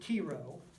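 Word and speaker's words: Chi Rho: all of you alright this is called the Cairo or as my history professor pronounced at Quiroga it means Christ so they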